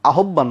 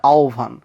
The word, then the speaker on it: আহ্বান: না আহ্বান জানায় তো উচ্চারণটা আসলে আহ্বান না উচ্চারণটা আহ্বান সো এই যে আহ্বান উচ্চারণটা ভুল করি দেশপ্রেম বলি আমরা আসলে